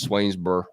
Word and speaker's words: Swainsboro: Demello out of Swainsboro you don't really pronounce that o in Swainsboro I don't even think you pronounce the final letters just swainsbur but don't ever Hey